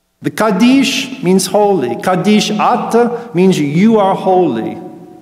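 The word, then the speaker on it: ܐܢܬ: Kaddish at means you are holy. It's actually A-N-T, ant, but the N's been dropped off in pronunciation.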